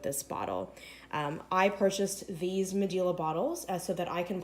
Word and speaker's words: Medela: I'm pronouncing the brand Medela because that's how I heard it pronounced by one of its company representatives in a video online. A lot of people pronounce it Medela, but since I got that pronunciation from the